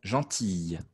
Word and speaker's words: gentille: Gentille. Attention à la prononciation.